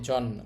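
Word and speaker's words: 人: মানে জাপান আর এখানে মানুষের কাঞ্জির উচ্চারণ হবে জিন চীন মানে মানুষ নিহন জিন জাপানের মানুষ আপনি সহজে এটাকে বলতে পারেন জাপানিজ এই ছিল আমাদের প্রথম কাঞ্জি।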